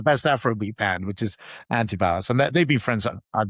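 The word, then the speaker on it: Antibalas: I really like how you say antibalis. It's probably the correct way to say it. If I say it too quick in the south here in Florida, it's just antib. Sounds like two words to me.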